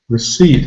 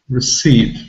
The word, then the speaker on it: receipt: long e sound received receipt and the first syllable it's really simply and there isn't really a vowel sound in this syllable but we call it the schwa sound and the schwa sound